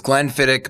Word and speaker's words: Glenfiddich: kind of the Glenfiddich as I learned it's pronunced there's Glenfiddich Macallan churned iconic names yeah when what's the